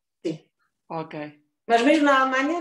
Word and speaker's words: Krtsch: Então, olha, o apelido é Checo, porque o meu pai é checo, e eles lá pronunciam como te suave, dizem Krtsch. Krtsch. Krtsch.